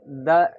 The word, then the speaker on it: the: से स्टार्ट होता है तो उसके आगे अगर द इसको लगाना है इस आर्टिकल को द लगाना है तो दीप उसका उच्चारण क्या करेंगे हम दी पढ़ेंगे जैसे अह